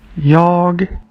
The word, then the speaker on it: jag: Jag. Jeg. Jeg. At the end of the Swedish one, you can hear a hard G sound.